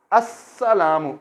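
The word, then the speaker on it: السلام: Então, a força de lam vai se transferir para sin. Vamos dizer assalamu. O som de lam vai desaparecer no meio, não vamos pronunciar.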